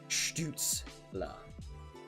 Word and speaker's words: Stützle: It's subtle, and not a lot of people actually do it, but that's how it is pronounced in Germany. Stützle.